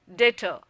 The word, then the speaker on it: debtor: For example, consider an accountancy term, debtor. If you pronounce it correctly, then the B is silent.